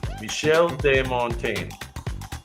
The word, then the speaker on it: Michel de Montaigne: I don't know how you pronounce it in French. Montaigne. Michel de Montaigne. I guess is the way you probably say it.